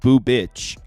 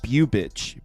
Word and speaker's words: Bubic: So Brandon Browning saying it's pronounced boo bitch. I used to say bew bitch.